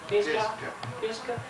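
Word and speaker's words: Pisgah: How do you pronounce it? Fisca.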